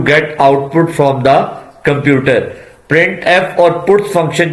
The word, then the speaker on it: printf: The standard library function printf, pronounced printf, is used to used for formatted output.